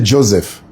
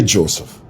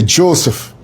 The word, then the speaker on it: Joseph: I don't say Joseph. Do you know why I say Joseph? It's because that's the way the Irish say it. They say Joseph. They don't say Joseph.